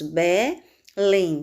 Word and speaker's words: Belém: Por exemplo, na palavra Belém nós temos Belém, sílaba mais forte, lém.